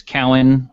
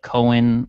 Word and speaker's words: Cowan: frequently mispronounced i generally my name is cowan but people call it cohen because i guess they don't want to offend me by calling me a cow um sometimes it's cohen